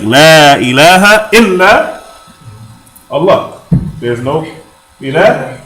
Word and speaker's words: إلى: Oh, But the word that we put in our sentence here is called ila. Okay? Illa, pronunciation with shadda or tashdid.